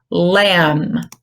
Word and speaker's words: lamb: you think it is lamb lamb what letter is silent the B now how about this